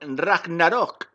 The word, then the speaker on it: Ragnarok: estamos en arthur vivo en el mapa de ragnarok así es como se pronuncia al rap narok esta vez me ha